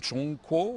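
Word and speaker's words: 中国: On a les Chinois se prononcent s'appelle même Chong Ko.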